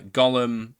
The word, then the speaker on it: Golm: be referred to by the last bit which is of course Gollum much to his surprise this ends up being pronounced like Gollum anyway on a side note